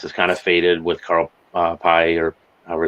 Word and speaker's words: Carl Pei: OnePlus is kind of faded with Carl Pei, or however it's pronounced, Correct.